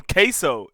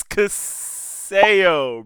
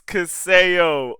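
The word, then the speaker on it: CaseOh: the Public's yeah bro why do people call him queso it's Caso bro it's casso oh my gosh pronounce it correctly it's casso and yes Tik Tok is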